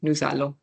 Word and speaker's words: nous allons: However, when it was nous and then allons, because this is a consonant and this is a vowel right next to each other, we'll say nous allons.